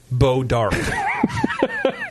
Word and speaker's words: Bois d'Arc: Bois d'Arc, BOISD''ARC, Bois d'Arc. Yeah, it's pronounced Beau d'Arc.